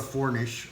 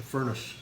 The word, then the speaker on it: furnace: Not a fornish, a furnace.